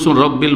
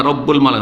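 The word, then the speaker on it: رَبُّ: অন্য তাসবিহ তাসবিটা বলছেন রব্বিল মালাইকা রব্বুল রব্বিল না রব্বুল হবে রব্বুল মালাইকাতে রুহ এটা তো আরো মুশকিল ওইটাই পারি পড়তে পারবো এটাই পড়তে পারবেন কুদ্দুসুন রব্বুল এইটা পড়তে পারবে কিন্তু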